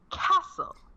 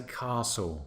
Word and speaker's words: castle: Castle so it's almost it sounds like there's an R in that word but there isn't that's correct because we pronounce it Castle we say Castle so there we go